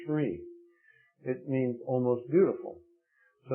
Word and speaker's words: Sri: the front of it Fri pronounced Sri it means almost beautiful